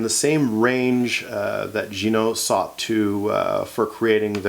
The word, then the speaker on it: Ginault: some people call it ginal that sort of thing but I suppose that that's fine it's uh it's a regional pronunciation uh the name is French my understanding is it's pronounced Gino so I did get